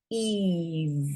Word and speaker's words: Eve: This does not say Ev, it says Eve. But you can't hear the E.